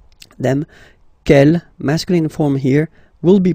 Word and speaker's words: quel: And the good news is that you will pronounce them the same way. All right, so quel, quel, quel, and quel.